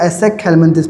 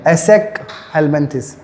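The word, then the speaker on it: Aschelminthes: एसेक हेल्मेंथिस इसको बेटा एसेक हेल्मेंथिस पढ़ते हैं। ए एस सी एच ई एल एसेक हेल्मेंथिस।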